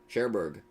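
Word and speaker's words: Cherbourg: Sherberg.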